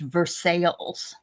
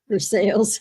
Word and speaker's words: Versailles: There is a Versailles in Kentucky, but it's pronounced Versailles. Versailles. Oh my god. Somebody didn't know how to pronounce. No, they didn't know how to say sales.